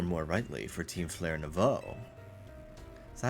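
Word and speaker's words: Nouveau: He's nothing but an obstacle to all the goals we hope to achieve for Team Flare Nvo. That is how you pronounce it.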